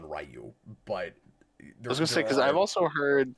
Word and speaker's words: Ryu: But yes, uh there was debate for years and years about how it's pronounced and the the the the fandom like people that actually play the games all settled on Rayu.